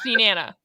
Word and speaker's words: Nenana: Hitting the second syllable. Okay. I stand by this is where the minions come from. Na-na-na. Nana, Na-na-na. nana. Picker, I'm gonna say you're correct. You're the closest. It's Nenana.